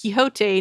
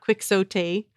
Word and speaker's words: Quixote: I mean, it's a word derived from Quixote, pronounced Quixote, not Quixote.